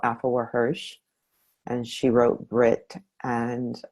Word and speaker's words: Afua Hirsch: Can you say Her name is Afua Hirsch. Afua Afua, Afuwa, Hirsch, Hirsch, and the name of the book is Brit.